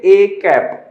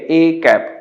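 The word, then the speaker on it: â: और इसको प्रोनाउंस करेंगे a कैप। क्या प्रोनाउंस करेंगे? a कैप।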